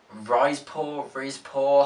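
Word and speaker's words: Rizespor: He then fancied a stint as well in Turkey, playing for Rizpor, that's how you say it.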